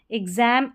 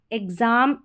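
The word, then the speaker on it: exam: एक्स को आधा ग और ज भी पढ़ते हैं।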